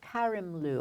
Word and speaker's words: Karimloo: a star in the making and Robin cop Karimloo I said it wrong before for what we